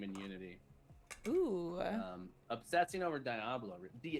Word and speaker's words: Diablo: Obsessing over Diablo. Diablo. Apparently it's not Diablo. So everyone in my chat was like, "You're saying it wrong."